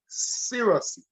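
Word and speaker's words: cerasee: they don't know the spelling so I will spell it out for you and it's c-e-r-a f-e-e cirrusy right and you know as we say in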